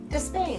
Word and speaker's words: Despain: Despain.